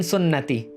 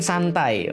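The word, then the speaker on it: سنتي: Nun sama ta itu kalau salah baca Bahaya kalau yang benar annikahu Min sunnati sesungguhnya nikah itu bagian daripada sunnah saya daripada syariat saya kata Rasulullah tapi kalau bacanya Salah bisa jadi annikahu Fi ee annikahumin ada sin ada Nun ada ta Sin Nun ta SNT annikahu Min santai Wah itu bahaya nikah itu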